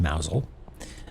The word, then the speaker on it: Mousehole: So Mousel is a town, spelled Mousehole, pronounced Mousel.